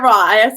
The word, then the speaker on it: Roy: That's Matt Roy, not Matt Waugh. I was like, is it Roy or Raw? Every time I see it, it scares me to say one or the other. Matt Roy.